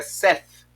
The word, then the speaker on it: Seth: Mas o nome dele, na verdade, no hebraico é Seth.